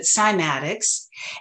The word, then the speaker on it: cymatics: pronounce it schematics but in the west we pronounce it cymatics and this is the ability to make sound